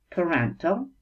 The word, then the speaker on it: parental: Parental произносится вот так, parental, relating to person's parent or parents, относящийся к родителю или родителям человека.